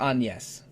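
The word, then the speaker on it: Agnès: didn't it far enough there's an accent over the E so they do it the French way but uh but um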